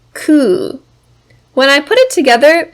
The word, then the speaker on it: 空: about the natural environment our first kanji has two pronunciations which we are going to learn today the first is sora which means sky the second is ku when i put it